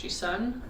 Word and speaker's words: Gisun: Hey, my name's Gisun. It's my Korean name, pronounced Sun with a G in front of it, and I've been writing music for the past 10 plus years.